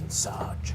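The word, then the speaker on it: Ensage: It kind of looks like Insage, but it's pronounced Insage.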